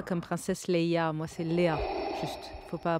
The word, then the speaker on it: Léa: d'un avenir meilleur, chère Leia ? C'est marrant, vous dites Leia comme princesse Leia. Moi, c'est Léa.